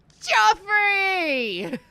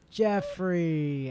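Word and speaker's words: Geoffrey: Joffrey! Jeffrey, as his actual name is pronounced.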